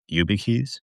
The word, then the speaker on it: YubiKey: Let me know if I'm pronouncing this right. YubiKeys. yeah, yeah.